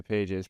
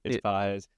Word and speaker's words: Pages: For those of us that don't know how to say it, Andy Pages. Yeah, Pages, Pages. Yeah. I didn't know it was Pages until they started playing the Mets either, but it's Pages.